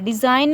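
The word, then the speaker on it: design: डिज़ाइन में जी जो है साइलेंट रहेगा। हाँ, तो जितने भी वर्ड्स ऐसे होंगे कि एन से पहले जी आता है तो जी जो होगा वो साइलेंट होगा।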